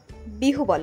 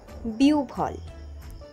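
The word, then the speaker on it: বিহ্বল: তার জিউভা পুড়ে গেছে অনেকেই বিহু বল উচ্চারণ করে থাকেন উচ্চারণ হবে বিউভল দুর্ঘটনার খবর শুনে সে কিছুক্ষণ বিউফল হয়ে বসেছিল।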